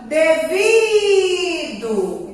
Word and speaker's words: devido: E a nossa última palavra, devido. Então, a sílaba tônica é o vi e automaticamente o O vai ter som de U, porque a sílaba tônica não foi a última sílaba.